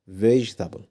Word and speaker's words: vegetable: جرب تنطق الكلمة التالتة كده لوحدك وشوف هتنطقها ازاي. ها. مم. اسمها vegetable. vegetable.